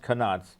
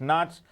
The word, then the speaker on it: knots: first one is in knots and it's not pronounced canots it's not second ones in miles